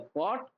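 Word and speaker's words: caught: have boat catch हुआ catch के बाद जी एच साइलेंट तो कॉट कॉट होता है तो आई कैच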